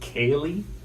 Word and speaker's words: ceilidh: In Cape Breton, we use a lot of Celtic words also, so you'll hear the word Cayley a lot. It's spelled, I'm going to misspell it too, Ceildh. Ceilidh.